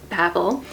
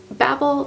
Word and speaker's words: Babel: Babel versus Babel and even though the word Babble is usually spelled with two B's that is how this is supposed to be pronounced that is how the author pronounces it and Babel the tower was actually